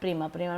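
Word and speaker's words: primer: उसमें जो old Hauser थे वो अपनी ओल्ड प्रिमर यहाँ पे उसका प्रोनाउंसिएशन होता है प्रिमर मतलब अपनी पुरानी ग्रामर की किताब, फ्रेंच ग्रामर की किताब लेके आए थे।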